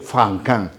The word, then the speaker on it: Franquin: de mayo que es André francin se escribe franquin Andrés sin la s franquin él es el gran